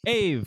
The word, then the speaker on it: Ave: My name rhymes with save. Ave, cool.